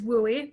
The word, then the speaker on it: WUE: state of washington is wui that western undergraduate exchange we is indeed how it's pronounced uh hopefully after this